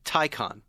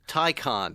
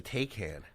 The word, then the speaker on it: Taycan: Taycan. Tie like a tie like you're wearing, and a con like you are as well. Taycan. I thought it was a Taycan.